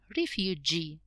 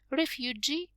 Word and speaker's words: refugee: you can see that we have the stress on the last syllable refugee examinee interviewee refugee is a person who